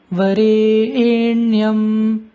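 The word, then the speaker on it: वरेण्यम्: Number one, Varenyam. Varenyam. The re is brought in a double accent.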